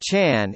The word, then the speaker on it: Chán: wrathful deities you topic Zhen Zen Buddhism Chan pronounced Chan in Chinese sewn in Korean our Zen in